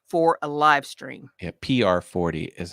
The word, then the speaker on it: PR40: Jeff Robinson says, can you take the Pro 40 through a soundboard, then into your phone for a live stream? Yeah, PR40 is how it's pronounced.